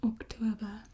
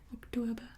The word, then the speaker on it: Oktober: it in German, but in Afrikaans it's October. So this sound just kind of gets like a more of a oo sound. October. Not an oo, like a oo.